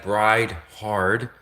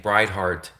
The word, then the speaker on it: Bride Hard: really pronounce the name, because when I previously said Bride Hard, I sounded like I was saying Bride Heart, and they translated the